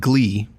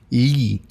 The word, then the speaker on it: gli: So GLI, which sounds like glee, in Italian it's actually ye. It's hard, I can't quite do ye. It's like LY combined together E.